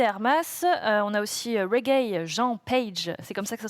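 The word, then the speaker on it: Regé-Jean Page: Euh on a aussi Reg Jean Page, c'est comme ça que ça se prononce.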